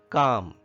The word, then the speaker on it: calm: Calm, hymn, subtle, rain. In calm, can you tell me which letter is silent? That is L. L is silent in calm.